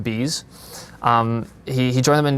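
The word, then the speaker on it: B'z: It's a B apostrophe zed, but it's pronounced bees.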